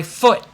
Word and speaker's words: foot: them have T's but I stop the air okay I hurt my foot so that's a little tricky but I want you to try it and practice it if you do a little bit of a tea that's totally fine but um if you want to sound like an American this T at the end of a word it's stops okay now that's pretty